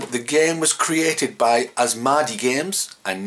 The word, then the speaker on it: Asmadi: game was created by as Margie games and not as MIDI I think I pronounced in the last episode so it's as malady and not as MIDI and there's a couple